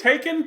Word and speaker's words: Haken: I think it's Haken, but I could be wrong. That's what I think like Taken, but with an H. Haken.